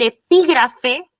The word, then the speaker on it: epígrafe: Y el epígrafe tiene acento en la I.